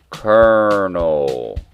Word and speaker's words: colonel: he why is kernel spelled with an l but you pronounce it with an r colonel that always bothered me